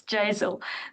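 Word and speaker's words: JASAL: I don't know how to pronounce it, Jazzel. Jasel, is it pronounced like nasal? Yes, it's Jazel.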